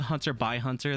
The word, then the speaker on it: Hunter x Hunter: I pronounce a Hunter by Hunter. The X is by.